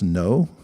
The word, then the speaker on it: know: it's spelled so funny k-n-o-w spells no so jna yeah and